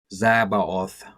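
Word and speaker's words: Tzabaoth: be the left hip Divine name yhvh zabbooth pronounced yhvh zabaoth translated as Lord of armies referring to the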